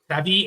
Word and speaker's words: Travis: So I would pronounce them like you would a Québécois or an Eastern Canadian French name. So Travis Etienne.